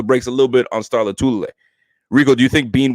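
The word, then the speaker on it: Lotulelei: Let's pronounce it like this. People have a hard time. Star Latulele. Okay, it's that simple.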